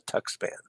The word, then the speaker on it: Tuxpan: But the X is more prevalent in the Tuxpan. Tuxpan, Mexico. There we go. That's probably closer to proper pronunciation.